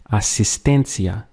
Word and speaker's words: asistencia: say assistance in Spanish, it would actually be asistencia. You can see where instead of asistencia, we have an E instead of an A there, which I've underlined. So it's asistencia.